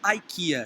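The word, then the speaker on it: IKEA: aqui tem a rede ai que ia se escreve i k e a né pronuncia aqui e você pode pegar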